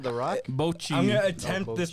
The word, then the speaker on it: Bocchi: Bocha the Rock? Bocchi. I'm gonna attempt Oh, this pronunciation.